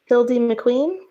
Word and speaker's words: Hildie McQueen: I just want to make sure that I have the pronunciation. Is it Ellis Leigh? Yep. Hildie McQueen?